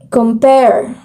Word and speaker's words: compare: compare as an example because the stress is on its second syllable which is the the pair. So um as the stress is in pair to compare and I will just